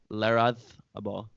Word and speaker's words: Larrazábal: Pablo Larrazábal. I was told that's you pronounce it with the th. The Spanish pronunciation.